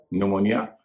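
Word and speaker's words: pneumonia: आज की क्लास का सबक एक वाक्य में एन, एस और टी से पहले पी साइलेंट हो जाता है। उदाहरण निमोनिया जिसमें कि पी एन से पहले है।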